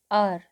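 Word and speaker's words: hour: आर, हम सो हावर नहीं बोलेंगे, आर बोलते हैं, आर, इसलिए एन आ गया।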